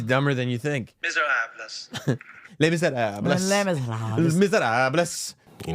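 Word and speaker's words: Les Misérables: Les Miserables. By the way, that's also a mispronunciation. Les Miserables. You don't pronounce the S?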